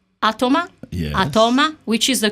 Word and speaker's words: Atoma: is the actually 11th chapter it's called atoma atoma which is the correct pronunciation Any Way You Want It All right